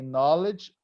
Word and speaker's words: knowledge: good knowledge knowledge okay you don't pronounce the K say knowledge of food and beverages